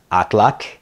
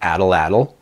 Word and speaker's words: atlatl: Another one that we did previously is Atlak, not Atlatl.